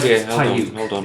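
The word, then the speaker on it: Paiyuk: Payuk. Hold on. It's spelled Payuk. P-A-Y. Or sorry, P-A-I-Y-U-K. Payuk.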